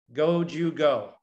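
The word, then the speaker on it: 五十五: And the reason he asked for number 55 in Japan is that in Japanese, you pronounce the word 55, go, Jew, go.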